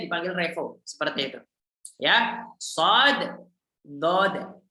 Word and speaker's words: Revo: Kalau saya dipanggil Revi, saya nggak mau juga. Dipanggil Reva, saya juga nggak mau. Revo. Nama saya Revo, ya harusnya dipanggil Revo.